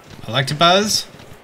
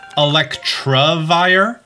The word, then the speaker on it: Electabuzz: Electabuzz. Electabuzz. Electabuzz. I've also realized that I've always pronounced it Electrovire my entire life.